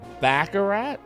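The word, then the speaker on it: Baccarat: there do we go out this way it's pronounced backarat so it is bakarat you're saying it's bakarat like that oh right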